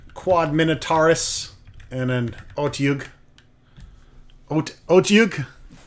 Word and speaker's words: Otyugh: Otyugh? I think that's how you pronounce it. I used to call him Althigog for the longest time. I guess you just roll your tongue around your mouth and make a disgusting noise with it.